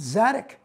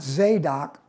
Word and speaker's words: Zadock: did read once and I've learned how to pronounce zadik not zadok you can duck a boat but you can't Dock's attic uh zadek Pratt did